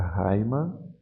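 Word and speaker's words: αἷμα: Aqui eu vou ler, lembro aqui a aspiração áspera, e vou ler a raima.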